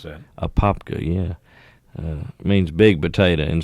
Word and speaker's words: Apopka: I wondered how you pronounce that. Apopka, yeah.